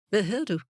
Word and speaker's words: Hvad hedder du: Thus, what looks in your notebook like "Hvad hedder du?" What is your name? Is actually pronounced "Hvad hedder du?" Learning to understand spoken Danish is learning to guess which part of the spoken word is missing.